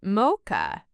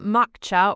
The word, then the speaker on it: mocha: Maka is mocha, not mocka or mocha, just mocha.